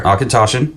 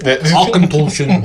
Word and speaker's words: Auchentoshan: It even gives the pronunciation guide on the back. Oh, look at there. Auchentoshan. But the Ach is misleading because it's all. Yeah, they should put the umlauts over it. Auchentoshan.